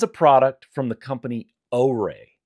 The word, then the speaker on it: OREI: This is a product from the company Oay. It's spelled O R Ei.